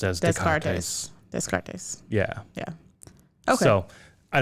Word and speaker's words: Descartes: their name from a philosophy book that was, a chapter of that title was Descartes to Kant.